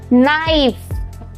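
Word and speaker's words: knife: हम silent pronounce करेंगे अगर के के बाद एन वर्ड आ रहा है तो जैसे इसको प्रोनाउंस करेंगे नो नॉक नाइफ नाइट जो के के साउंड है वो साइलेंट हो जाएंगे और बाकी को नॉर्मली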